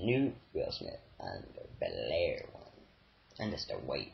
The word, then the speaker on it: Bel Air: He can't say Bel Air, he doesn't pronounce it right. This is Blair. Bel Air.